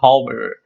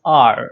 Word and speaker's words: hour: We don't say a hour because it is not pronounced as hour. It's pronounced R. Again, the H is silent.